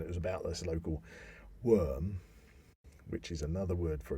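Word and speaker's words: wyrm: then you know but that was a worm or i think that's pronounced sometimes w y r m but as far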